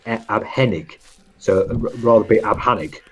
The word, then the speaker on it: abhängig: If you didn't have the A umlaut, it's abhängig. So you can see it changes the pronunciation of the word, but it makes it so. So O umlaut is U umlaut is and A umlaut is air.